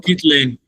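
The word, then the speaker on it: scikit-learn: The data analyst, but I received an assignment for the Sky is it sky kit? Um, Sky or something? I don't know the pronunciation. Skit learn.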